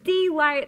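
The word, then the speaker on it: Delight: about glenn campbell um born and raised in d light arkansas that is how you say that i have been there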